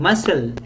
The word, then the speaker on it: muscle: ever omit certain then in muscle SC is s in muscular it's SK yes choir must always remain